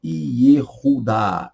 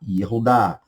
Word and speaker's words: Yehudá: Então, a pronúncia é Yehudá, Yehudá, ou Judá, como nós conhecemos, que eram dos filhos do patriarca Jacó.